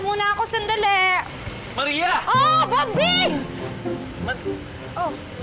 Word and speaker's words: Bombing: Oh, Bombing! Oh. Never call me Bombing. That's my real name. Just call me Bombing. Silent B to second B.